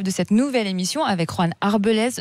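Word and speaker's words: Juan Arbelaez: Alors vous êtes donc l'un des 2 chefs de cette nouvelle émission avec Juan Arbelez, je le prononce bien ? Oui, c'est ça, c'est pas mal.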